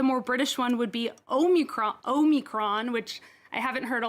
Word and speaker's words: Omicron: a try hexy omicron omicron perfect so omicron is the the guardian actually explains that there are two answers and omicron strangely is apparently the american pronunciation although you were of